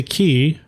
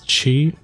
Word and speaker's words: ki: I'm going to say key. I know a lot of people pronounce this chi. I took Aikido as a kid. So to me, ki is ki. But, you know, ki, chi, say it as you will.